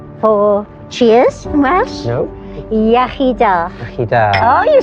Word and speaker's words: Iechyd da: Iechyd da.